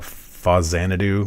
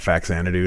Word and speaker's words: Faxanadu: well people call it fuzzanadu which is probably the correct pronunciation since it's supposed to mean famicom Xanadu so far Xanadu is